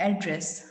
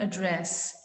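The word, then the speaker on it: address: जैसे कि अगर हम पूछेंगे कि what is your एड्रेस, so then we will speak एड्रेस। हम इस तरह से नहीं पूछ सकते कि what is your एड्रेस, that will be wrong to से।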